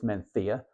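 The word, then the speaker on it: Mencía: well as men menia now technically if you're speaking in Spanish it's menia but I it wait Did that sound right coming out of my mouth probably not so I'm going to continue to say menia even though it's just not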